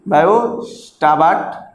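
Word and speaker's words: Biot–Savart: Biot, BIOT। ये टी जो है साइलेंट है, बायो-सावर्ट लॉ।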